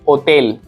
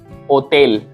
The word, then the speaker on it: hotel: And then ache, there is no sound of H. For example, hotel will we can say in Spanish hotel, hotel.